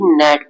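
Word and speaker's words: gnat: ही नहीं जाता है तो ग्नेट नहीं बल्कि ये नेट पढ़ा जाएगा तो यहां पर जी को हम पढ़ ही नहीं रहे हैं इसका मतलब जी साइलेंट है जी साइलेंट है तो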